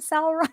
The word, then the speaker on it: Sauron: Tolkien, Sauron. Same spelling, same. same Yeah, pronunciation, but very different character.